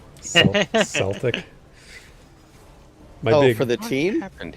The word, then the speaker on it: Celtic: I'm gonna have to learn how to pronounce Celtic with a soft C Celtic my for the team